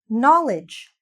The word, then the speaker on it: knowledge: Knowledge. So many letters. So many useless letters in terms of our pronunciation, right?